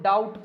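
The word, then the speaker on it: doubt: word है इसमें भी इस बी को क्या करा गया है साइलेंट करके इसको डाउट पढ़ा जाता है क्या पढ़ा जाता है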